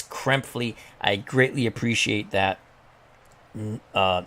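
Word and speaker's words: Krepfle: his name again because i'm so used to mispronouncing it but it's kremphley i greatly appreciate that uh neil or knelp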